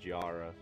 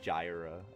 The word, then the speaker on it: Gyra: I was pronouncing this as Gyara, and there is no I before that A, so Gyra, I guess.